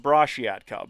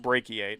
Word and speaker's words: brachiate: So I was stuck with brachiate cub which was actually pronounced brashiat cub but I didn't realize no sorry I pronounced it brashiatcub. It's actually pronounced brachiate.